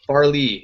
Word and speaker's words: Fairleigh: versus, what is it, Fairleigh? How do you say that? Fairleigh? I don't even know. I don't even know what you're out in the Northeast Conference. You're talking about Far Lehigh. Farley, yeah, Dickinson.